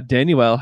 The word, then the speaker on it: Danuel: along with this okay danuel house tanja well did you know that's actually how you say it yeah yeah yeah first annual yeah I don't know